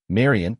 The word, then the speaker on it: Marion: Her name is Marion. Not Mary. Not Marie. Marion pronounced carefully softly. She always insisted on that and I always remembered.